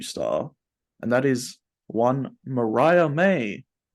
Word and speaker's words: Mariah May: pronounce the name that it was either Maria May or Mariah May and then settled on it is indeed Mariah May nicknamed mm orm and